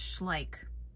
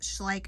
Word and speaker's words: Schleich: like a fool in this video y'all it's pronounced schlik I had to Google that but it's pronounced schlik and I believe this is a German toy